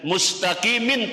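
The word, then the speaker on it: مستقيم: Kemudian mustaqimin tulisannya dibaca mustaqim karena wakaf, karena benar dimatikan.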